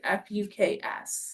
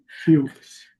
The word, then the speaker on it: Fuchs: makes you laugh out loud, his name is Lord Fuks. Okay. And it's pretty you pronounce it. No. Fuchs.